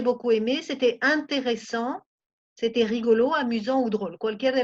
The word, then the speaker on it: rigolo: C'était rigolo. ¿Cómo se dice? Rigolo. Siempre acentúen en la final.